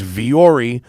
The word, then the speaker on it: Vuori: line is I have replaced 90% of the t-shirts in my closet with Vuori shirts.